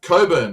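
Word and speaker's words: Cockburn: in Western Australia and they are pronounced Coburn no matter what you see on screen it's actually and Gip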